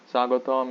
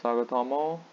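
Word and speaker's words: স্বাগতম: you might have the question why aren't we pronouncing this all here why is it sagotam and not sagatomo or sagota mall of course did i mention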